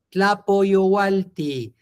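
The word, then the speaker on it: tlapoyohualti: Y solo acuérdense, no es una Y como en español, ¿vale? Entonces no me la pronuncien como Y, pronúncienla si son tan amables como una I latina, así, nada más, tlapo-io, tlapo-i, tlapo-i, owalti, tlapo-yowalti, tlapo-yowalti.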